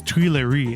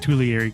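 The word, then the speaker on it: Tuileries: Garden something like that I keep mispronouncing it it's Tui lari not tulieri Gardens I'm sorry about that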